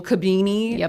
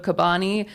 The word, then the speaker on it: Cabani: Like we went on one podcast and they said Cabini instead of Cabani.